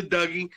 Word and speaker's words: Dougie: that harry you guys he said it right it's the dougie teach me how to dougie i was gonna say